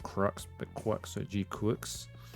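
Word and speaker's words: GQuuuuuuX: name in Japanese and it does sound like Quicks like Crux so G Quicks yeah qua is close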